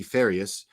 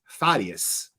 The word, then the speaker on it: Farias: But when he said Rudy, we all pronounce it Rudy Farias, but it's Farias. There's a hard R there in Spanish.